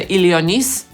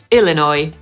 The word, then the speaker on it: Illinois: I ja, nie wiem dlaczego, jak byłam mała, byłam przekonana, że to się pisze Ilionis i tak to sobie czytałam, a po angielsku tymczasem powinno to brzmieć /ɪlɪˈnɔɪ/. Następny jest prosty – Indiana /ɪndiˈænə/.